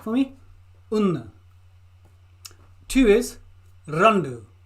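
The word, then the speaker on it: രണ്ട്: una see that for me una two is Rhonda Rhonda Rhonda Rhonda three is Munna Munna Munna Munna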